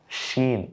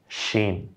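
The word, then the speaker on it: شين: পরেরটার নাম শিন। দেখুন উচ্চারণটা একটু, সিন শিন।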